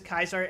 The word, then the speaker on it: Caesar: uh you mean keer I've been making it a point to pronounce it as kaisar every time I'm Legion Affiliated and when I'm not I just go Caesar yeah I mean that's